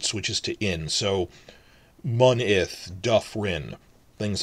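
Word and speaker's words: dyffryn: Remember, double F is regular F sound, not a V sound. Duff, rin. Duff, because it's in the first syllable, but if it's like 3 or 4 syllables, it'll be every time, but except for the last one, which is rin.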